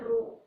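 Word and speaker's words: ρ: ये Greek letter है इसको प्रोनाउंस करते हैं रो।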